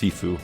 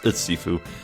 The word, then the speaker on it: Shifu: one got it Shifu Shifu that that means that that means Master by the way or is it I think it's pronounced sifu yeah it's sifu your agent Lane I take